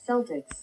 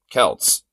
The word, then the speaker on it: Celtics: don't want to know how to pronounce Celtics like the Boston Celtics Celtics yeah I know because basketball and I'm pretty sure it's not how you pronounce Kels well yeah it's Kelts or Celtics pronounce the name of